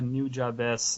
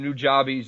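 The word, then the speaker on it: Nujabes: Also, I'd probably say New Jabez as a musician because he makes the cool rap. I've been pronouncing him New Jobbies this whole time.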